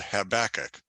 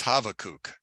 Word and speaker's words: Habakkuk: called havoc and Christianity it's called habakkuk but his real name is havokuk because the bee is actually a v sound and it's a it's a schwa or a short u sound so we're going to